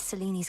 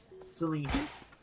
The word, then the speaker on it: Selene: With Seleni's grace. Selene. I keep saying it wrong.